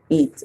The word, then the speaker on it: eat: Eat. Very good. And in this one, we have E and A saying E. So the A is silent and we hear the E calling its own name.